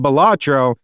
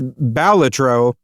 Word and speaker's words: Balatro: Uh we all thought it was called Bellatro. It's Balatro. Um according to the dev